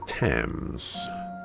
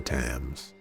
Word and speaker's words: Thames: They seemed to be headed towards the Thames.